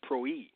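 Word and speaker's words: πρωΐ: So again, early is the Greek word prwi, which is pronounced proi.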